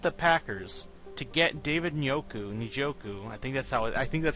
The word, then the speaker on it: Njoku: And then at the end, you trade with the Packers to get David Njoku. I think that's how his name is pronounced, Njoku. They actually say both letters, which is surprising.